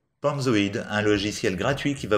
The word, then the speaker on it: Panzoid: Donc PalmZoid, ça s'écrit P-A-N-Z-O-I-D. PalmZoid.